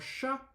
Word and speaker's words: chat: Then you have the A and then the T. We don't pronounce it.